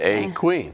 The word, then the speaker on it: A'Queen: it wrong you said they put that apostrophe in there for a reason a queen yeah it's a posh